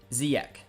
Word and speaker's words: Ziyech: It's pronounced Ziyech.